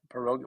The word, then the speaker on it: pierogi: pork really high quality pierogies am I saying it right it's peroga which is a dead organ yeah Ukrainian is it's Veronica or or Peter here but pierogies is is common it's really more polish